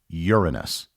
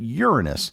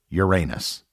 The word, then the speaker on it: Uranus: that the name of the seventh planet is Uranus likewise if you check various dictionaries and pronunciation guides they will also confirm that Uranus is how the planet is pronounced therefore for